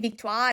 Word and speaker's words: Victoire: How do you pronounce Vikto? I'm American so on the English broadcast are always saying Victto. When I finally went to Montreal, everybody was saying Vikto.